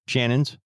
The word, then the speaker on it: Channon: Christopher Nuome and his girlfriend Shannon Christian, her name is spelled C H A N O N. Shannon Christian.